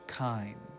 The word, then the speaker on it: chyme: called bolus it is called chyme spelled with a CH kind and so you both